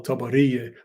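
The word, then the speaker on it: Tiberias: the water in which we call tabari with a long a you practice saying it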